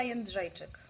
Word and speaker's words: Jędrzejczyk: Joanna Jędrzejczyk. What? Joanna Jędrzejczyk.